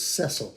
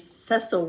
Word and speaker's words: Cecil: His name was Cecil.